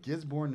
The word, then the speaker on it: Gisborne: Gisborne, New Zealand.